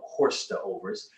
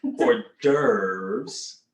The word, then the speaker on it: hors d'oeuvre: hors d'oeuvre right uh as we spell it horse the overs but hors d'oeuvres um they've been around